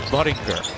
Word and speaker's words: Buttinger: And it's not how you pronounce his last name, it's Buttinger.